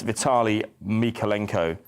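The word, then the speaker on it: Vitaliy Mykolenko: January Vitale um I can get his name pronounced correctly so that I don't let anybody down but it's uh yeah it's Vitali mikolenko he's a player that signed in January just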